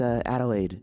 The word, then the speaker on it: Adelaide: It's Adelaide. Come on, come with. Adelaide? Adelaide? That's a lot of syllables. It tastes good in your mouth, though. Adelaide. Adelaide. It's the same syllables as lemonade.